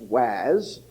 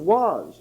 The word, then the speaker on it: was: Then we have as, has, and then we have was, which is not pronounced was, but pronounced was.